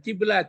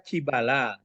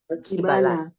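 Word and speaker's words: قِبَلَ: Bukan kiblat tapi dibaca kibala. Qibala.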